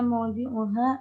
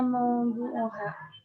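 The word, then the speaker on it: مَوْضِعُهَا: Wa aina mawdu'uha. Mawdu'uha. Maudu. Ini bukan maudu. Bacanya apa? Mawdi'uha. Maudi'un. Ma mana maudi'? Tempat. Kalau maudu? Tema.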